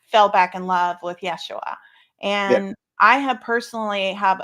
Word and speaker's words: Yeshua: relationship now with Yeshua, which is Jesus, but that's how you say it correctly. In fact, is it, there's also another way you can say it, Yeshua. Is that right, Karen? How do you say it? Yeah, Yeshua. A ha in front of it. How do you say it? Oh, what I thought, Yehashua. Yehashua. Ask Mercurio. He will know. So there's two variants of it too.